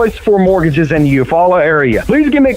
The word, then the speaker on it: Eufaula: It is Beef O'Brady's, but it's the Eufaula Sports Park, correct? It's Lake Eufaula Sports Park, and then we also have Beef O'Brady's.